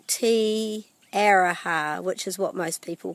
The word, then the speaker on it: Te Aroha: But one of the things that it's really important to know with the pronunciation of te reo Māori is the importance of pronouncing the vowels correctly.